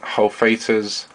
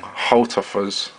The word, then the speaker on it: Hultafors: that's the whole Freight hull Fatah's oh sorry I've been pronouncing it wrong Holt offers heavy-duty carbon steel bushcraft